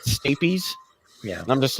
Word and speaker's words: stapes: whistle in between the in this and they're pronounced it's stapeys yeah i'm just like oh oh like the